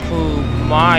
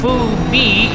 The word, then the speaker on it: Phu Mai: And we have noted that the proper pronunciation for Phu Mai is actually, quote-unquote, Phu Mi in Vietnamese.